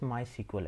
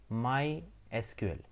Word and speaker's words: MySQL: and the instagram as well so what is my sequel actually a friend first thing first you have to know how to pronounce my sql sometimes uh people call it my sequel or